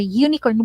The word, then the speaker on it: unicorn: is with an h or a unicorn y ah because it's a u it has something to